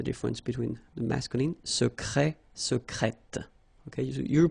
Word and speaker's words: secrète: Secret, secrète. Okay, you're pronouncing the T.